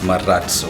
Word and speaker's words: Marazzo: Murat so not maurice Omar has oh it's Murat so that's how you pronounce it properly it's a Spanish word sir